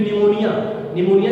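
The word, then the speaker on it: pneumonia: प्लूरोनिमोनिया like organism, क्योंकि निमोनिया जो word है उसका भी स्पेलिंग पी से शुरू होता है, पी साइलेंट है, ठीक।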